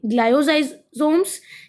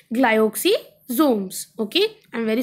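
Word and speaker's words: glyoxysomes: सोम्स होगा बी गोलगा bodies सी glyco sorry ग्लाज सोम्स या फिर डी माइक्रोसोमस सो the correct option year is option number C ग्लाइओक्सीमे sorry पहले pronounce गलत कर दिया था ओके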